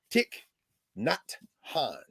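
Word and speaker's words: Thích Nhất Hạnh: The monk that just Oh, made Tiknan, Tiknon Han. Tiknon Yes, Kong. yes. Yeah, Tick, not Han.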